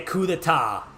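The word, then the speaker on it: coup d'état: So there's gonna be a coup d'etat. That's how it's pronounced, motherfucker.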